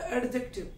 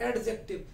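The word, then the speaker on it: adjective: There is एडजेक्टिव, नॉट एडजेक्टिव, generally बच्चों इसको sound करते हैं एडजेक्टिव। ए और जे के बीच में कभी भी डी आ जाता है तो उसको प्रोनाउंसिएशन नहीं करते, मैंने बोला एडजेक्टिव।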